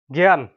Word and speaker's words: জ্ঞান: মত উচ্চারণ হবে যেমন যদি শব্দের প্রথমে আসে তাইলে একটি গ উচ্চারণ হবে জ্ঞান গেজ সংযুক্ত ইয় আকার